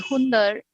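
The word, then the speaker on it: Hunder: you find in uh there's a place called hundred which is spelled as h-u-n-d-e-r that's in ladakh so it's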